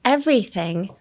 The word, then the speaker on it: everything: And everything. Emphasis on the V.Everything. Everything. もちょっとちっちゃいつ入れる感じ。Everything って感じですね。Take advantage of everything. ちょっと意識的でもちょっとちっちゃいつ入れて V も一番発音のトップに持っていくのが V。だから一番筋肉使うのが V にしてください。Everything ですね。はい。わかりましたか皆さん。わかんなかったらメールくださいね。はい。